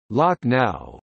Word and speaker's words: Lakhnau: Lucknow is the anglicized spelling of the local pronunciation, Lucknow.